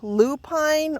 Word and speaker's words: lupine: So this flower here, this is a native lupine or lupin, depending upon how you pronounce it.